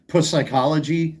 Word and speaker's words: psychology: Psychologist? Psychology? The P is silent.